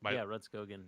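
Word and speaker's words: Rudskogen: Oh, Ridskogen.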